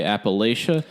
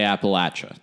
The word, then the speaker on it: Appalachia: like a sore thumb you will never say Appalachia always they say Appalachia that is my biggest